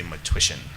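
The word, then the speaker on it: Matwyshyn: And again, the spelling is difficult for pronunciation, but just say Matwishin, like tissue.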